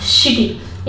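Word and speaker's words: city: एस के बाद सी के बाद अगर आई हो तो उसको स पढ़ा जाता है, वाई लास्ट में हो तो उसका बड़े ई की मात्रा काम करता है, तो यहाँ पे सिटी।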